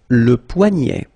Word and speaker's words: poignet: Le poignet, le poignet. So this combination of ET at the end will basically open the sound, so you get poignet.